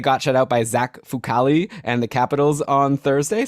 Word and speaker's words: Fucale: Yeah, Fucale. Okay, I nailed it. Then you can start from then they got shut out by. Then they got shut out by Zach Fucale and the Capitals on Thursday.